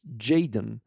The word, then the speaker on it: JXDN: This cover that Travis Barker tweeted out a few days ago, it's made by, I think it's pronounced Jaden. It's spelled out as JXDN.